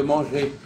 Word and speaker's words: manger: je veux manger manger est-ce que vous prononcez le R de manger donc je veux manger je veux manger manger